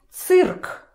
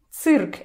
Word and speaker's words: цирк: Cirk. Cirk. Again, we see this poor little E trying to make it soft, but no, it's still hard.